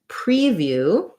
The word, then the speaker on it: preview: e is stressed um so it rarely is going to say pre except sometimes for example preview preview has first syllable stress and it's going to be the e sound so the best thing